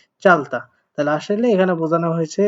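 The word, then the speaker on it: 짧다: উচ্চারিত হতো বাট এটা যেহেতু তার মধ্যে পড়ে না তার মানে বাম পাশেটা উচ্চারণ হবে চাল আর যেহেতু বিউপ আছে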